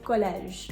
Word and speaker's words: collège: When it's at the end of a word after a consonant, it is not going to be pronounced. For example, collège.